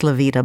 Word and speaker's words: Lyvita: about the life they see by my guest levita and levita is spelled l y v as in Victor I